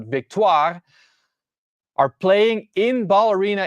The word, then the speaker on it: Victoire: The Minnesota Frost and the Montreal Victoire, that's how you say it, not victory, but Victoire, are playing in Ball Arena in Denver in January in their second season of the PWHL.